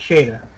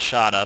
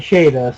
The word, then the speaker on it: Shada: Shada before uh no Tom Baker pronounces it Shada I've heard literally everyone even in the BBC called it shot but okay in in the in the serial itself they called it Shada so that's what I'm